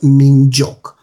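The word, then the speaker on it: 민족: It's pronounced minjok.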